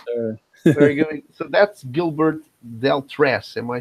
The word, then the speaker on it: Gilbert Deltrez: So that's Gilbert Deltrez.